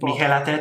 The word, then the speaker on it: Mikel Arteta: I forget how you pronounce his name. Mikel Arteta.